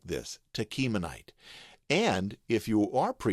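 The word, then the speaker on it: Tachmonite: let's take a look it te as in kite Tonite Tonite Tonite now when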